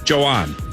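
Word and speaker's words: Jhoan: What did you settle in on? Joanne. I like Joanne. Let's go with that.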